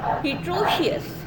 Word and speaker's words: heteroecious: तो मतलब ये एक मैक्रोसाइक्लिक फंगस है और हिट्रोशियस ऐसे को बोलते हैं, हिट्रोशियस। हिट्रोशियस सही वर्ड है, इसकी स्पेलिंग लिख लीजिए, आगे आपको मेरे लेक्चर में मिलेगी।